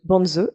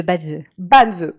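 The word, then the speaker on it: Bazi: Et parmi les autres outils que tu explores aujourd'hui, il y a aussi le Banzi, c'est comme ça qu'on prononce ? On dit le Badze.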